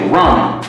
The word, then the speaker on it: ramen: What's the right way to pronounce it? Is it ramen or ramen? The Japanese say ramen.